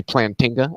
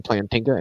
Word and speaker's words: Plantinga: People say Plantinga, Alvin Plantinga. It's not. It's Alvin Plantinga.